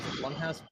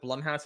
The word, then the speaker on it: Blumhouse: same thing is kind of what Blum has Blumhouse, that's how you pronounce it, Blumhouse has been doing, making some horror games recently."